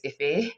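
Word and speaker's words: Ify: wrong i'm not europa so when i'm saying iffy it's iffy it's not if they're and and like i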